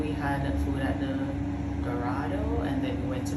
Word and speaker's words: Dorado: We had food at the Dorado, and then we went to the main buffet, which is over the family side.